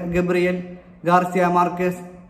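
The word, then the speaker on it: Gabriel García Márquez: Spanish ഉച്ചാരണമനുസരിച്ച് ഗബ്രി എൽ ഗാർദ അമാർക്കേത് എന്നാണ് ശരിയായ പേര്. ഇംഗ്ലീഷ് തർജ്ജമയിലൂടെ ഗബ്രിയൽ ഗാർസിയ മാർക്കേസ് എന്നാണ് അദ്ദേഹം ലോകം മുഴുവൻ അറിയപ്പെട്ടത്.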